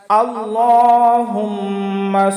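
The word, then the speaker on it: اللَّهُمَّ: আল্লাহুম্মা, আমরা যখন আল্লাহ করব তখন এখানে একটু মোটা করে পাঠ করব। আল্লাহুম্মা হুম্মা।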